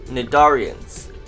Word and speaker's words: cnidarians: phylum nadaria jellyfish are nadarians the sea in nadarians is silent other nidarians include coral